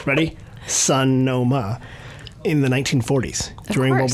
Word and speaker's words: Sonoma: You sounded like you were emphasizing different syllables of Sun. I know. Sun, like S-U-N? S-U-N, and then dash O, and then dash ma.